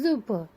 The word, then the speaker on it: super: Super is super is super. S is pronounced as zu, super.